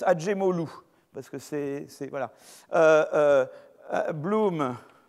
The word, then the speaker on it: Acemoglu: gens qui ont suivi la voie schumpétérienne donc à ces mots glou alors on prononce pas comme ça ça se prononce à jim hall ou parce que c'est voilà blum ah oui assez